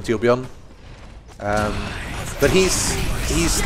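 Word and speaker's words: Torbjörn: if you play uh torbjorn which is your tuon I keep pronouncing it the American way even though he's actually Swedish so really should just call him ton um but he's he's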